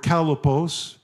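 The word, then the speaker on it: chalepos: The word perilous is the Greek word kalepos. If you're taking notes, you spell it C-H-A-L-E-P-O-S. That word kalepos is only used two times in the New Testament.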